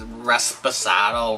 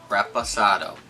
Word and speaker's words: Reposado: you didn't know and a lot of people mispronounce this rest pasado rest aside Reposado repeat after me it's fun especially when